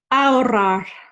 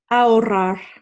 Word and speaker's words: ahorrar: So number one, as we know, our H is silent and we're going to roll those R's. So ahorrar, ahorrar is how we say it.